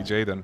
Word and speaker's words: Gaiden: to me sweet is it pronounced yeah it's uh jayen anybody excited for Jaden will you 100% giden no sorry jayen no no I never